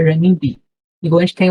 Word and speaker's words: renminbi: Só que esse ren, né, que eu tenho um adendo antes, ela tem 2 tipos de pronúncia. Pode ser ren, igual no inglês o R do R, né, ren, ou pode ser esse R com um pouco de J também, jan, jan, ok?